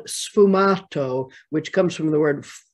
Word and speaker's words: sfumato: painters venetian painters and in italian it's called sfumato which comes from the word fumada is the